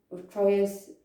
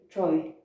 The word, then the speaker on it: Troyes: france to sign the treaty of troy in troyes troy i think it's pronounced in 1420 and this is agreed it's